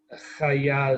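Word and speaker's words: חיה: Chaya is a wild animal, right? Or a beast. Oh, okay. Yeah. I'm confusing it with the. Haya. Yeah. Chaya. Yeah, this is a confusing one. It has a patach and a kametz rather than a kametz and a kametz for one thing.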